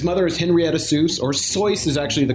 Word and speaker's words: Seuss: Seuss always said that, it rhymed with Mother Goose, or somebody pointed that out to him, so he was always okay with people pronouncing it Seuss.